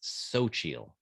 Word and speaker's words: Xochitl: According to Google pronunciation thing, that it's Xochitl. You pronounce her first name Xochitl Gomez.